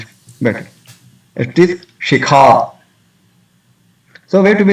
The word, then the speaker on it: shikha: That if after seeing the shikha, somebody will say, "Oh, I pronounce the sika." It does not happen. But once we know it, then we can pronounce it better. It is shikha.